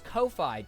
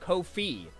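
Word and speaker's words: Ko-fi: from Loi oh it's Kofi duh I I I got it wrong this whole time nope they they say it's pronounced kofe like the fee you pay to like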